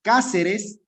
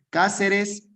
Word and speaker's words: Cáceres: Cuando se acentúe en la ante, sí, puede ser en la antepenúltima sílaba o en la tercera tercera sílaba contando desde el final. Res te ca. Cáceres, última, penúltima, antepenúltima sílaba.